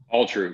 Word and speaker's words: Alltroo: Alltroo, yeah, just Alltroo. Like altruistic.